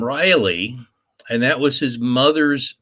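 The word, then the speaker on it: Riely: history it's actually a and it's spelled riley as r-i-e-l-y although the hint that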